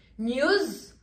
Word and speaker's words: news: News, on prononce bien le S. On se rappelle que tous les S en anglais se prononcent.